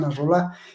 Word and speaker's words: Nasrallah: La gente que sigue a Nasrallah, porque lo pronuncia mal este señor de España, es Hassan Nasrallah, el líder de, ahí está, ahí lo estamos